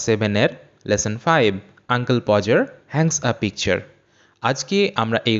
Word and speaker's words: Podger: এটাকে অনেকে স্টুডেন্ট দেখি যে অনেক স্টুডেন্ট এটাকে উচ্চারণ করে পট যার কিন্তু পজার যারটা সঠিক উচ্চারণ নয় এটা একদম সম্পূর্ণ ভুল উচ্চারণ সঠিক উচ্চারণটি হবে পজার আঙ্কেল পজার এটি হচ্ছে সঠিক উচ্চারণ আঙ্কেল পজার